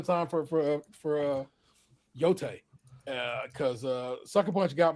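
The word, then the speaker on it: Yōtei: pronounce the word because it's not Yi it's yote like you were killing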